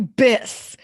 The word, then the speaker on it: Biss: just gonna call you biss and she made it up yes it rhymes with kiss and bliss so biss is my